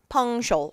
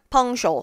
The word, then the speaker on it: punctual: 발음하실 때 punctual 아니고요. 발음 뭐요? punctual. 다시 뭐요? punctual. 그래서 발음 유의해 주세요.